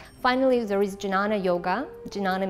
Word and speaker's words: Jnana: Jnana means knowledge, sometimes pronounced Gnana.